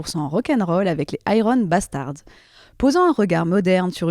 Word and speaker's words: Iron Bastards: Violence Iron Bastards, on va prononcer à l'anglaise Iron Bastard est né en 2013, sachant que pendant une bonne année avant, on faisait que des reprises de Motored.